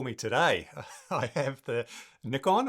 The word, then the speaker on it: Nikon: today, I have the Nikon or Nikon. Nikon. Nikon. Nikon. Well, that's that's a tricky one, isn't it? I always say Nikon, but I think it depending where you are, it might be Nikon.